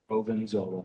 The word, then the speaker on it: Provenzola: And Jeremy's last name is Provenzola. Provenzola, just like it's spelled, just like it sounds.